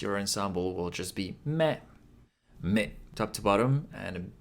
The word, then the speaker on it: み: aghh So three strokes left to right left to right again top to bottom with a little loop み is pronounced like the English word ‘me’ In other words, it sounds like ‘me’ in ‘meat’ Looks like lucky number 21 Who just hit the blackjack?